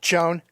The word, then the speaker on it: Chone: Shone Figgins. Shone Figgins? On the ballot. I don't know what to tell you. I got Shone Figgins right here. Did Shone Figgins even like... Dan, it's pronounced Chone.